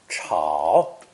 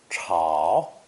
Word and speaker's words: 吵: This character is pronounced third tone, chao, chao, giving us the new phrase, 吵架.